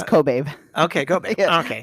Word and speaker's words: Kobabe: You found out how to say It's Kobabe.